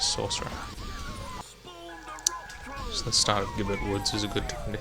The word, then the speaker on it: Gibbet: For a long time I thought it was Gibbet Woods, because it just looked kind of like a French word, G-I-B-B-E-T, but they do actually pronounce it in cutscenes as Gibbet Woods.